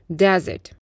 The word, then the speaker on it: desert: Обратите внимание, слово десерт произносится dessert, потому что у нас еще есть слово пустыня – desert.